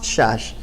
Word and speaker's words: Szász: se llama thomas szász se escribe así de 60 así muy de los apellidos de los orientales y tomás chas que fue el profesor